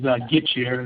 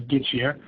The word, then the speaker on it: Gitchier: My last name is Gitchier. It's pronounced just as it says, Gitchier.